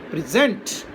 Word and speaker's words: present: Now when it is used as verb, the accent changes to the second syllable. It becomes present.